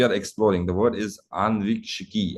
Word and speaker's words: Ānvīkṣikī: I'm sure people who have not heard it for the first time, there will be a little challenge in terms of pronunciation. But then if you read the Sanskrit word properly, you will be able to pronounce it right.